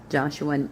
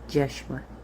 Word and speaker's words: Joshua: Joshua would not have been pronounced Joshua, and there it would have been pronounced Jeshua, just so you understand.